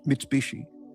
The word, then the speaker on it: Mitsubishi: Uh Spring, uh Morty, how do you pronounce Well, Americans say Mitsubishi. Mitsubishi Mitsubishi. In Japan, the U is kind of like a little different, so it's Mitsubishi.